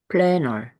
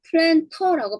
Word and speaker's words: planter: planner. 네. 이때는 planter라고 발음하지 않는데요. planner라고 발음한대요.